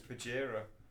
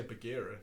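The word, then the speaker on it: Bajheera: It's Bajira. I'm always going to call him Badge because he's the big badge. But what's the difference in the pronunciation of those spellings? I'm not going to say Bagheera.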